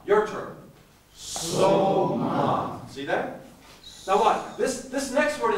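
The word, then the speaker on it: σῶμα: Now here's how you pronounce the next word. Soma. Your turn. Soma.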